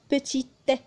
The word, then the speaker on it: petit: عند التحدث عن المؤنث نقول petite مع إضافة e وتنطق t. في المذكر نقول petit ولا ننطق t.